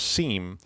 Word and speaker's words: SIEM: always see people say seen but but it they said I would I looked it up and they said it was pronounced seam SIEM so that's Sierra